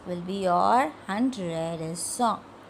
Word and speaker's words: cent: The last and the least will be your 100 is cent. Cent. 100 pronounced as cent.